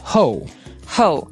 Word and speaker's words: hoe: Funny spelling it's h o e and it's pronounced ho ho so again this is a tool with a